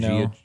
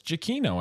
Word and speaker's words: Giacchino: So I realized I was saying his name wrong, Travis, for years. I was saying Giacchino. Yeah. I was saying Giacchino. Apparently, that's not it. It's Giacchino, I think, isn't it?